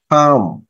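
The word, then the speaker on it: calm: এটাকে বলে ক্লাম তাহলে মাঝখানে এল এর উচ্চারণটা হবে না কাম ক্যাচ ক্যাচ খি খি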